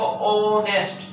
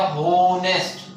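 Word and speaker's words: honest: हम क्या पढ़ते हैं इसको, ऑनेस्ट, ये नो होनेस्ट। अगर आप इसको एच फॉर है पढ़ेंगे तो ये हो जाएगा होनेस्ट, तो ये होनेस्ट नहीं होता, ये होता है हमारा क्या, ऑनेस्ट।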